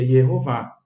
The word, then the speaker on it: Yehová: A gente percebe aqui sempre que tem o tetragrama acompanhado com as vogais E, O, A, Sheva, Roland Kamatz, então pronúncia Yehová.